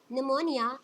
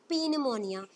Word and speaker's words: pneumonia: right so this white निमोनिया इस निमोनिया right it's note पी अमोनिया because piece silent हर ठीक है piece silent है तो हम इसे निमोनिया पढ़ने हैं इट्स और इनफेक्शंस